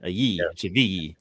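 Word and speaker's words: Chivilli: Don't say it like Goodman, CVG. Like, I don't know why he says it that way. Chavi. The L is a ye. Chavi.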